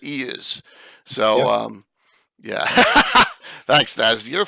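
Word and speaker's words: Iuz: Some people pronounce it Ias. We've always pronounced it Eas.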